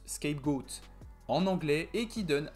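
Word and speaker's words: scapegoat: on trouve aussi le bouc émissaire qui se prononce skypegoat en anglais et qui donne indirectement pour certains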